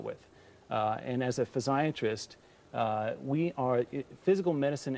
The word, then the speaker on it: physiatrist: That's the correct way to say it. Physiatrist. We try not to say physsiatrist because that sounds too much like psychiatrist. And you know, Scott, we're kind of like the Ronnie Dangerfield of medicine.